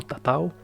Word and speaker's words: tatau: pintan sus cuerpos y lo llaman ta ta ta ta así se pronuncia y lo escribió el cómo está tu percepción se ha tratado en la palabra en tahitiano tatau es utilizada en todo